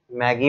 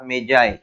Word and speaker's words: Magi: properly pronunciation काय करायचं most of ज याला मॅगी म्हणतात मॅगी म्हणतात पण प्रॉपर्ली याचा मिनिंग जो आहे तो प्रोनन्सिएशन करताना मेजाय या प्रकारे केल जात आता तो एझली मेजाय